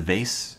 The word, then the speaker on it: vase: It's a vase. Rhymes with case.